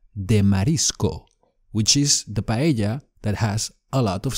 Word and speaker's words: paella: Well, paella. Pa-e-ya. The double L is like a y.